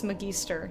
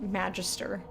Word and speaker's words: Magister: you all right so I'm gonna be pronouncing this McGee stir not Magister like not like magistrate way my keister Mikey stirs